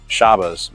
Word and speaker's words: Shabbat: C4 but in the Shabbat mode or the correct way to pronounce it is shabas mode and uh if if